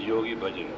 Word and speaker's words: Yogi Bhajan: Yogi Bhajan in 60's to pronounce correctly it is Yogi Bhajan you have come here